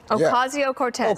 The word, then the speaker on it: Ocasio-Cortez: I can't pronounce her last name. How is it? Ocasio-Cortez.